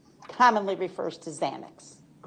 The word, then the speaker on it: Xanax: fields, you know that people commonly think it's really spelled with a Z. That's correct. Because of the pronunciation. Yes. Okay. So, a Z commonly refers to Xanax.